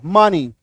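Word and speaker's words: money: इसको ऐसे समझिए कि ई के बाद अगर वाई आ जाता है तो ई का उच्चारण बड़ी कार की मात्रा, बड़ी कार की मात्रा होगी। क्लियर है?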